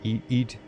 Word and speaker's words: Eid: Eid is pronounced like eat.